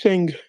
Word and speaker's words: Sing: yeah what's your name hello my name is sing s i n g nice to meet you